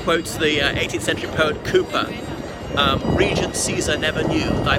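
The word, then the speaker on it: Cowper: of our British imperialism so Cooper is about Co WP er but pronounced Cooper he's a minor poet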